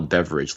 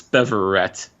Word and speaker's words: Beverette: i have to apologize i called a beverage last week but it's beverette i swear they were